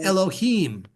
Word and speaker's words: Elohim: usually not always but typically words are accented at the end of the word so Elohim Elohim and we even got